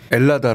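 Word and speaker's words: Ελλάδα: 헬라스네 헬라스의 음역이나라 네네네 요새는 h 발음 잘 안 하고요 라고 많이 그럽니다 엘라다 그래요 자기 네네 엘라다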